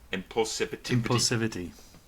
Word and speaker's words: impulsivity: How do you pronounce that second word? Impulsivity.